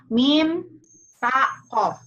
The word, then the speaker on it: MTQ: apa harus sama loh Itu dari Inggris ini dari Arab berarti harus dalam bahasa Arab apa M taqo kali mim ya mim ta Q nah Apakah eh pernah